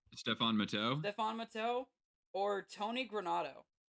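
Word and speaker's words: Stéphane Matteau: Nicholas sundstrom Owen Nolan Stephanie Mato I believe how I pronounce him Stefan matau Stefan matau or Tony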